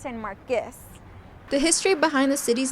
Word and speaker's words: San Marcos: is mispronouncing the city's name instead of saying San Marcos it's pronounced San marus the history behind the city's name is that